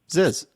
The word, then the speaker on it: Zyzz: Ziz. Huh? Ziz. Is that how you pronounce that?